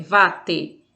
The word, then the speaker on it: water: Então, a palavra a gente vai ler vate, italianizada. Vate significa aparelho sanitário.